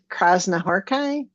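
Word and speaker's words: Krasznahorkai: And the name is pronounced Krasnahorkai.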